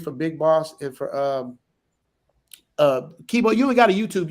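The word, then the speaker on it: Keybeaux: So it's just Kibo. Just type in Kibo in my channel. Spell it out though, so because the way you spell is different.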